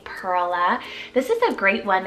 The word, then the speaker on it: Perla: Vintage name Perla spelled p-e-r-l-a Perla this is a great one if you want that Pearl nickname um but making it a two-syllable name Perla very beautiful it's a